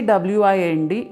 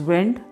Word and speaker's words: wind: Now, when we say W-I-N-D, it is, when the pronunciation comes, one pronunciation is wind, the next is wind, that is twist and turn.